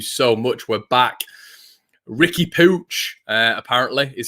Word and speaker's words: Puig: what's his first name ricky pooch we'll start calling him that uh but no it's their puig apparently is how they pronounce it over there so what i'm gonna